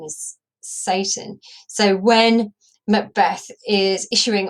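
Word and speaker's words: Seyton: But I think the pronunciation is Satan. So when Macbeth is issuing orders to his assistant Satan, it sounds as if he's commanding the devil himself.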